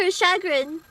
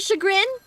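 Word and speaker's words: chagrin: be pronounced yes I I always thought it was like the other way I thought it was like at least much to shagon but you're telling me it's much to shagrin whatever freaking whatever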